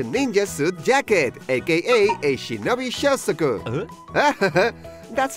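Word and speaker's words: shinobi shozoku: That's the ninja suit jacket, aka a shinobi shosoku!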